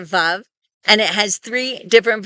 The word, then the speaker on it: Vav: Many people say that this was originally pronounced like a W, and so they call this letter wow.